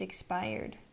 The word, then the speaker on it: expired: It rhymes with tired. Tired. Mi hija tiene el DNI caducado. My daughter's ID is expired.